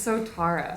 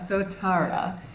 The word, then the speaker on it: Sotera: And am I saying it right? It's Sotara. Sotara.